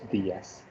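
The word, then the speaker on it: días: So here there is an accent, so you have to be a little bit, I would say, careful in the sense that when you put accent mark, you have to give stress on that particular letter.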